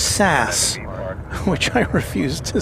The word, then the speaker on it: SAS: they also said that SAS is pronounced sass which I refuse to